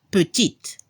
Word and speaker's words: petit: Para la pronunciación, la última consonante se debe escuchar al femenino. Al masculino, il est petit. En femenino, elle est petite. Se escucha la T al final.